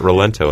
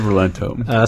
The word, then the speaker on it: Rolento: His name is supposed to be like Lawrence or Laurent. Put the L's and the R's. But got Rolento sounds like sounds like a credible Italian name.